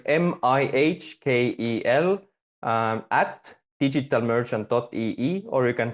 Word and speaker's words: Mihkel: Americanizing it as Michael. It's not. Is it Mihkel? Yeah. So it's Mihkel at digitalmerchant.ee, or you